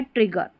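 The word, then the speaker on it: trigger: इसको डेजर नहीं इसको ट्रीजर नहीं। डेगर और यह है ट्रिगर।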